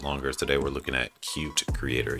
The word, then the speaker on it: Qt: today we're looking at cute creator yes it's pronounced cute not qt and as you can